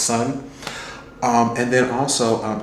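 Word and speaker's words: Seon: s e o n but it's pronounced Sun um and then also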